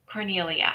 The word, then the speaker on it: Cornelia: How do you pronounce it? Yeah. Cornelia.